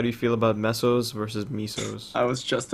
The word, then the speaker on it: mesos: thing i i actually i pronounce it meso like like pesos except mesos i say mesos because that's just because